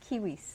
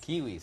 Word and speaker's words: Quihuis: us so we can the last name is kiwis kiwis so there you go my apologies for that